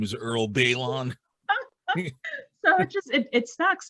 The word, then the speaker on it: Baylon: your pronunciation of it that's not my anglicized pronunciation hey how's it going my name is Earl Balon so it just it sucks so I was